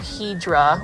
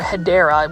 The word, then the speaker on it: Hedera: shop because, number one, any type of Hydra or Hedera, which is the correct way to say it, these are a little